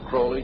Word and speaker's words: Crowley: to have his name pronounced Crowley to rhyme with holy and uh the Satanist